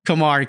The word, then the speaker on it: Camargue: I'm going to say this name wrong. Camargue. There we go. Camargue.